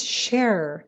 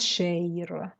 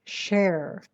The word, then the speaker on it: share: the word share is share not shay okay that is not correct share like err like chair okay share work on